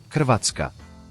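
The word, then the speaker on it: Hrvatska: 1995 dica número 16 na minha língua o meu nome se soletra sim h r v a t s k a e se pronuncia assim katka dica número 17 faço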